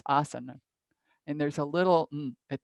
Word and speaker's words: asana: Like asana doesn't have a long A at the end. It's asana.